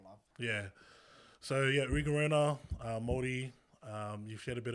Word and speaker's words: Rona: And my cousins would probably bash me for saying Rona, because that's not how you pronounce it. It's Rona.